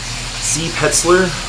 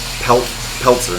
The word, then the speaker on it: Peltzer: Alright, so again, C. Petzler? What? How do you say his last name? Peltzer. C. Peltzer.